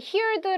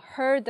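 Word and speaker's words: heard: 어른 듣다 란 얘긴데 이거를 힐더 라고 읽는 친구들 많더라구요 아니에요 헐 더 라고 읽어야 돼요 키울때 아니고 할 그렇죠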